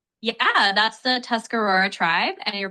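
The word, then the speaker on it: Tuscarora: r o r a yeah that's the tuscar Aurora tribe and you're pronouncing it right.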